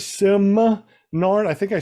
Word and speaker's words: Simard: Am I saying it right? Simard.